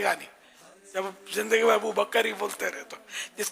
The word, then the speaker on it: ابو بکر: اور ابو بکر یہ پہلے بھی میں کافی سمجھا چکا ہوں کہ یہ تلفظ غلط ہے. ابو بکر نہیں ہے, ابو بکر کاف ساکن ہے.